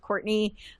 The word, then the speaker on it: Courtenay: Uh, it it's pronounced Courtney, but if you don't spell it correctly, you'll have difficult time finding me.